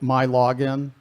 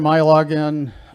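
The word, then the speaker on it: MILogin: system which is called my login everything in michigan starts with mi because michigan and it's pronounced my so you may think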